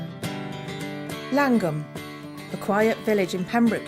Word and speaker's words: Llangwm: the culture and where the Welsh spelling is inconsistent with spoken version of the name slum is pronounced langum by those who live